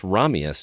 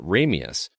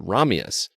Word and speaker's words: Ramius: perspective he pronounces it ramius but when he pronounces it from the Russian perspective he pronounces it romius dude that's an awesome